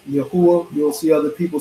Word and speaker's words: Yahuwah: Of the Tetragrammaton, as people call it, the Yo, the Hey, the Wa, and the Hey, which is pronounced Yahuwah. You'll see other people say Yahweh, Yahweh, Yahweh.